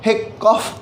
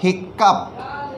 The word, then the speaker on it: hiccough: तो ऐसा नहीं है कि यहाँ पर इसे कॉफ पढ़ा जाएगा तो यहाँ पर इसे हिकॉफ पढ़ लेंगे। यहाँ पर जो प्रोनाउंसिएशन होगा वो होगा हिकअप, हिकअप। तो अप इज़ the pronunciation of OUGH, अप इज़ the pronunciation of OUGH।